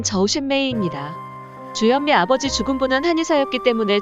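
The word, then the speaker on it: 周炫美: 주현미의 중국어 발음은 저우셴메이입니다.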